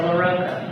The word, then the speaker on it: LaRocco: Is it LaRocco or LaRocco? LaRocco or LaRocco? There's always a dispute. It rhymes with Coco. Coco. Okay, so LaRocco, maybe.